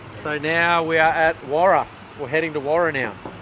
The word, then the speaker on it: Waroora: Pronounced Waroora. Oh, Waroora. There you go. It's not Waroora Station, it's Waroora Station. It's like Ningaloo's, not Ngarraloo. Ningaloo.